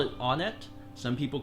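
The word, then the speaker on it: Onett: stupid it's actually because I've always pronounced it on it so pronounce it whatever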